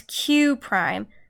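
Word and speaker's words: Q′: a graph now remember these little apostrophe marks are not the number one they're pronounced as prime so this is our this is our prime this is Q this is Q Prime this is s this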